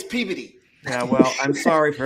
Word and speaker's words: Peabody: It's spelled Peabody. Peabody. Yeah. Everybody else, it's Peabody. Up there, it's Peabody.